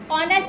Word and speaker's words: honest: ये देखो spelling H ओ एन ई एस टी लिखी है। एच से आपका वर्ड शुरू है। लेकिन हम इसको प्रोनाउंस करते हैं ऑनेस्ट। क्योंकि जो फर्स्ट लेटर एच है वो क्या है? साइलेंट है। बोला नहीं जा रहा है।